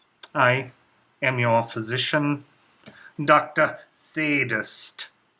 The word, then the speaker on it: Szadist: am your physician Dr sadist that is spelled s z a d i s t the Z is silent as I prefer you